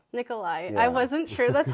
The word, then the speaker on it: Nicholai: Nicholai. Nicholai.